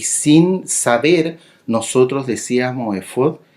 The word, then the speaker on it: efod: el original hebreo porque eso se escribe Álex Fey Dale y se pronuncia efod tal cual por decirlo de alguna